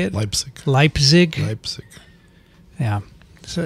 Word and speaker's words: Leipzig: for uh posthumous no posterity i'm going to lip zig is that how you say it leipzig yeah so it's a long time it's five